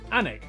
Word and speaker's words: Alnwick: in cornmore cuorma before finishing up in Alnwick anik which is near Newcastle or as the people